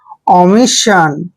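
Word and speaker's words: omission: संकट next word देखिए ओ एम I double S आई ओ एन ओ का उच्चारण हम क्या कर रहे हैं ओ ऐसे ओ करना है ओ और एम को मैं पढ़ते हैं और आई को ई की मात्रा पढ़ते हैं ओमी हो गया ओमी और डबल एस का उच्चारण हम स करेंगे आई ओ एन देखिए यहां पर double S आई ओ एन को हम सन पढ़ेंगे क्या पढ़ेंगे सन ओमिशन ओमिशन होता है भूल या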